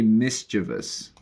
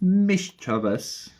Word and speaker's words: mischievous: And again, depending on your accent, in British they say mischievous. Mischievous. Mischievous. And in American? Mischievous. Mischievous. It's a little bit less intonation. It's a little chiller American, but mischievous.